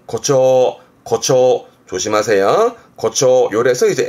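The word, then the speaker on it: 誇張: 앞 글자가 과자라 자랑할 과자, 과시하는 과자라서 과장하는, 발음은 고초, 고초.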